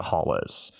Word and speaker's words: Haules: That planet is called Holles 1, but everyone just calls it Holles. It's spelled Haules.